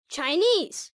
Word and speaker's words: Chinese: she's Japanese pronunciation tip most words ending in es e stress the final syllable listen Chinese Chinese Chinese Japanese Japanese